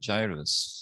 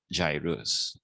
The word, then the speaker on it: gyrus: Is it gyrus or is it gyrus? So obviously the cat is correct. It is gyrus. So UPCM graduates, please pronounce this as gyrus.